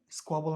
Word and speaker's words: squabble: স্কোয়াবল উচ্চারণ আছে, এসের উপরে স্ট্রেস হবে, স্কোয়াবল, স্কোয়াবল। I'm always dealing with squabbles between the children।